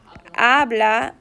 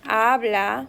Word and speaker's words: habla: Habla, H is silent. Habla, we don't pronounce the H.